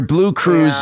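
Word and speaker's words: BlueCruise: Your blue cruise is expiring.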